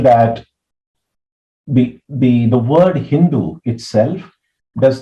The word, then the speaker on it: Hindu: with the letter s they tended to pronounce it with an H sound so they pronounced the name of the river as Hindu and they referred that